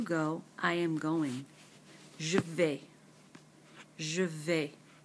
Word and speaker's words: vais: Je vais. Je vais. Notice the S is silent.